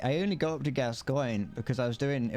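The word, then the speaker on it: Gascoigne: think it was very good that's how you pronounce gascoin well I think I've never I I would always have just pronounced it gas gone I would I would have pronounced it gas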